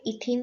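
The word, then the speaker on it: ethene: अब इसको जब प्रिसाइसली प्रोनाउंस करेंगे तो ये इथीन है, तो लास्ट में ENE है, ये एल्कीन हो गया, ठीक।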